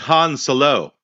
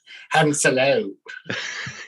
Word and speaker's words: Han Solo: It's Han Solo. Hans. Yeah. Hello. Solo. Han Solo. Yeah, that's right. That's how it's pronounced.